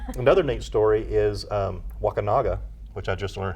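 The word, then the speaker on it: Wakunaga: come from um another neat story is um wakinaga which I just learned how to pronounce properly yeah it's not wakanga yeah wak Waka that sounds a lot worse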